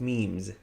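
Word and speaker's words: ميم: Watch a lot of memes. I'm joking. Meme. Both meme using your lips. Meme. For example, some. Yeah, some, both lips together.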